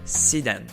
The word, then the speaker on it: sedan: berline en anglais alors je le prononce à la française mais la vraie prononciation c'est si dan mais je vais quand